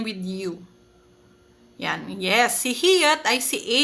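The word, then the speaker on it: 히읗: Si hiyat, kapag nasa gitna, yan, kapag nasa final position, ano naman siya? Final, per syllable po ang pinag-uusapan kapag positioning, ha?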